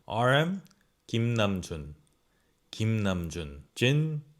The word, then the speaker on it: 김남준: You could be pronouncing it right, but this is the real pronunciation. RM, 김남준.